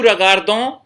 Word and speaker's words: regardent: नू रगार्दों, वो रगार्दे, इल रगार्द। जो प्लूरल वाला ILS है, इसके अंदर आपको स्पेलिंग क्या लिखनी होगी, REGARDENT, ENT साइलेंट रहेगा।